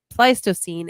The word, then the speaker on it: Pleistocene: to pronounce this wrong because I used to pronounce it wrong, and then I found out the correct way of saying that the Pleistocene era.